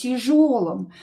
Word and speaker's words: тяжелым: Here this ya will be reduced as well. We will pronounce it as e.